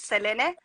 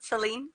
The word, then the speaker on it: Selene: My name is, well, in Spanish we pronounce it Selene, but you can call me Celine if that's how you want to say it too.